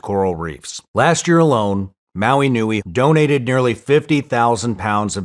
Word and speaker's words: Maui Nui: If you're curious, check out Maui Nui. It's spelled M-A-U-I, like the island, and N-U-I, which means big.